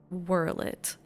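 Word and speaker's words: Werlyt: the sorrow of Verllet, I pronounce it Verllet cuz I'm like, well, everything here is very Slavic, so this should be a V sound. I looked it up the Japanese name and it they it's definitely Whirlet and but I'm like but why?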